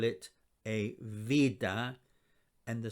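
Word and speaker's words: βήτα: the letter vida you probably know it as beta or beta but us greeks call it a vida and the sound it makes is a v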